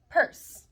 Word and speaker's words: purse: an e is that it's a silent e because when you hear the word purse it's not a percy so it's not e and me it's not a purse with a short e so when you have